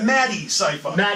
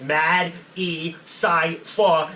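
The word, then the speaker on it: MadECypher: Like I tell people to sound it out. Like it's Mad, E, Cypher, and it's all one word. But if you sound it out like that, like syllable structure, which is how my whole basis of rapping is a syllable structure, that you'll get it.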